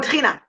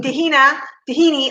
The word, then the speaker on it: tahina: In Israel or in the Mediterranean, how do you say it, Aviv? Tahina. Tahina. All right. In America, you don't know tahina. You know tahini. So you call it tahini sauce.